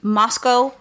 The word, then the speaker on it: Moscow: This story takes place in Moscow, Idaho. Thank you for saying it correctly. Right. I had been saying Moscow.